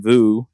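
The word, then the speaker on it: Vue: by way so so Luke kept saying Vu and if we're going with the French pronunciation that's actually correct so I feel enlightened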